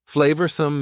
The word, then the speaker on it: flavorsome: Flavorsome means delicious and full of flavor. Notice the pronunciation. Two schwa sounds there. Flavorsome.